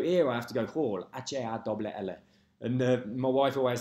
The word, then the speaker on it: Hall: So it's Hall, H-A-L-L.